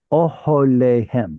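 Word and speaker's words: אהליהם: How do I know that's a kamatz katan? Because of the reduced vowel next to it. That's an excellent answer. What's another reason I know it's a kamatz katan? It's too far away from the stress.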